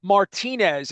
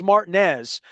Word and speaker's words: Martinez: lived in Evans, and they don't call it Martinez, even though it's spelled like Dennis Martinez or Tippy Martinez. It's Martinez, um Georgia, and it's right next to the golf course.